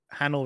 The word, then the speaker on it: Hanel: Hanel rhymes with panel.